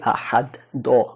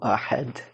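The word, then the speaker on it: أحد: যেমন কুল হুয়াল্লাহু আহাদ, আমরা বলি আহাদ দ, তারা কিন্তু দ বলে না, জিহ্বাটা উপরে লাগায় রাখলে দেখবেন একটু ডিফারেন্ট সাউন্ড আসে, কুল হুয়াল্লাহু আহাদ এরকম একটা সাউন্ড আসে, দ না।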